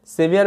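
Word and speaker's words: severe: সেভিয়ার মানে কি বললাম, প্রচণ্ড। এখানেও একটা বিষয় মাথায় রাখবে যে ইয়ার হিসেবে উচ্চারণ হয়, ইয়ার, SE, সে, VERE, ইয়ার, ভিয়ার, সেভিয়ার মানে প্রচণ্ড।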